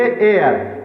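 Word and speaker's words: heir: एयर, एयर, अब इसे क्या पढ़ेंगे? हेयर नहीं पढ़ेंगे, इसे पढ़ेंगे एयर।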